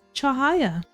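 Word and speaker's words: cahaya: And yes, as an Indonesian word meaning light, I've been kindly guided by native speakers that the correct pronunciation is chahaya.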